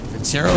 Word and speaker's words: Vincero: o collective dot com forward slash tim dillon vincero is pronounced vincero on its semiannual sale is here